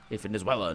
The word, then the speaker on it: Venezuela: So we have Venezuela now a country. Or Venezuela. Sure. I say Venezuela because that's how it's said in Portuguese, so I'm pretty sure it's Venezuela in Spanish.